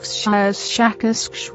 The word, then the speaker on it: Shakas: of your human letters, something like Shakas with a very strong pronunciation of the SH and K sounds.